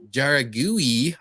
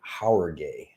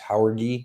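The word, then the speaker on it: Jauregui: gonna be a fun one I believe Yasmine jaragui I believe versus uh Estella Nunes who do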